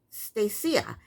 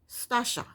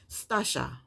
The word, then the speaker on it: Stacia: Next up is, okay, now I think I was pronouncing her name incorrectly last time. It looked like it's Stacia, and everybody else, the YouTubers that I watch, they're calling her Stacia. But Pastor Cal and her pronounced it, how did they pronounce it? Stasha. I think they pronounce it Stasha. So I'm going to try and pronounce it Stasha because I want to pronounce it correctly.